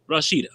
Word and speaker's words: Rasheta: She says, hey, Rasheta. I'm saying your name wrong. Rasheta, am I right? Or Rasheta? Rasheta.